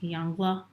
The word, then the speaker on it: Yongle: I was looking at some things up about how to pronounce it. So, Yongle.